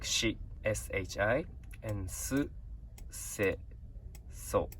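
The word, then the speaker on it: し: So next one is Sa, and this is Si, but we pronounce it like Shi, S-H-I, and Su, Se, So.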